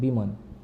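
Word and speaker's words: bemoan: Actually इसकी pronunciation है बीमन।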